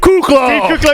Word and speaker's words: Kuclo: alway from Norway and we're joined by cuckoo yeah he said it right the kingsnake as